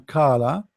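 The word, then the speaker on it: قال: But if you say, like, you want to say qala, qala mean he said, someone said. So if you say to someone qala, they understand that you meant qala, but this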